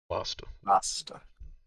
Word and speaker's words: Lasta: Lasta. Lasta. It's like pasta with an Lasta. L. It's spelled just like that.